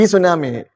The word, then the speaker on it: tsunami: Even tsunami is written with the initial T. T tsunami. Yeah, it's silent.